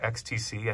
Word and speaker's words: EXTC: box the e extc or XTC I think it's how they say it um reamp box so